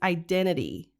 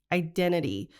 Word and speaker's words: identity: middle of identity so she doesn't pronounce that t in the middle so she says identity identity and then crisis so